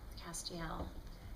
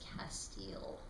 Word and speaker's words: Castiel: does have a history Castiel whose name I now know how to pronounce properly thanks to the people on social media who jumped to my uh correction when I announced it as Castile so I will never